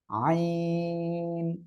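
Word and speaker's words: عين: মাশাআল্লাহ, এই অক্ষরটা হবে আইন। আইন, অনেকে বলেন এমন আইন, এটা বললে কিন্তু একেবারে ভুল হয়ে যাবে। আইন, আইন, ঠিক আছে? গলাটা চেপে আপনি উচ্চারণ করবেন, আইন, আইন।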